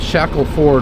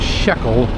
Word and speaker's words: Shackleford: But coming on back on Bryan Place, we came here last week from off of Shackleford Run, not Shekel. If I keep saying Shekel, I'm saying it wrong, as I always do.